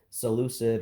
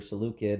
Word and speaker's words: Seleucid: Um, Alexander's successors, and principally you would have the Seleucid or Seleucid, depending on how you want to pronounce that, empire roughly here, and